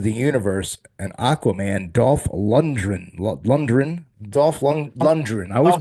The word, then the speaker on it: Lundgren: We'll talk in a second, but also from Rocky, The Expendables, Master of the Universe, and Aquaman, Dolph Lundgren. I always Dolph pronounce his last.